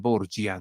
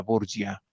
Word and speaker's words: Borgia: tiempo de origen español Los Borja digámoslo en español en Italia en Roma le llamaban borgia no para pronunciar Borja borgia y de eso se